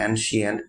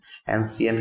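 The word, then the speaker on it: ancient: কাহিনী, এবং অ্যানশিয়েন্ট রয়েছে, শব্দটার উচ্চারণ হবে অ্যানশিয়েন্ট, অ্যানসিয়েন্ট কিন্তু হবে না।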